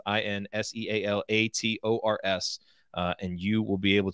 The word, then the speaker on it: Insealators: That's Insealators, spelled like it sounds, Insealators.